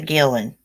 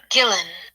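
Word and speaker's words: Guillén: how pronounced this Gillen okay chillin so you pronounce her name Vanessa Gillen okay chillin well crap we got it like what so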